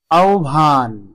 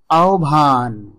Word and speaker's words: আহ্বান: দেখুন আওভান উচ্চারণ হচ্ছে আওভান তারপরে রয়েছে আওভায়ক গভর এখানে দেখুন বিউভল এবং